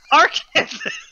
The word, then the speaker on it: Arkansas: It wasn't until Trey from the Ringside Hangout who lives there was like, yo, man, it's pronounced Arkansas.